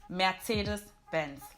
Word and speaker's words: Mercedes-Benz: In German, you would say Mercedes-Benz.